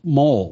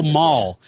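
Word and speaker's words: moll: I was saying like gangster Mo mole or m o l is that how you say that mole oh yeah women that hang out gangsters ma oh Maul I was saying it wrong sorry gangster Maul I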